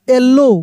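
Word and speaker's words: yellow: हैं देखिए यहां पे अगर ओ डब्ल्यू किसी वर्ड में एक साथ रहेगा तो डब्ल्यू का उच्चारण नहीं होगा ओ का होगा येलो कैसे पढ़ हम लोग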